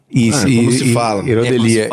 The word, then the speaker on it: Erodelia: Herodelia.